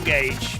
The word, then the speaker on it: gauge: Fuel gauge. Mileage gauge. Is that not how they say it in the US? Sounds normal. People say gorge. I'm pretty sure it's not gorge.